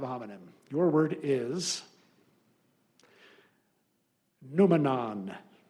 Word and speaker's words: noumenon: Your word is noumenon. Noumenon. Alternate pronunciation, noumenon.